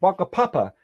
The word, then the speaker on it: Whakapapa: example there's the Maori concept of a Papa which spelt with a WH at the beginning and waka Papa is the Maori concept